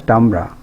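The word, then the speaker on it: timbre: one the quality o Tamra is Sun is pronounced as tambra of a sound is a sensation in ear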